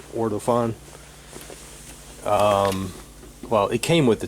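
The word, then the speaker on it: Ortofon: I'm using an Ortophon, that's how you pronounce it, Ortophon.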